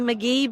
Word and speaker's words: McGhee: It's McGee but the H is silent.